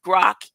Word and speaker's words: grok: I heard the word frog this week accordingly grock is generally pronounced as gural gr terminated by a sharp